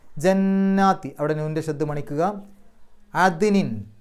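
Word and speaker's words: عدن: അവിടെ നൂനിന്റെ ശബ്ദ് മണിക്കുക അദ്നിൻ അവിടെ ദാലിന് സുക്കൂന് വന്നു എടുത്തു പറയണം അത് ദ് എന്നുള്ളത് എടുത്തു പറയണം അതിനിൻ എന്ന് കഴിഞ്ഞിട്ട് ഒരു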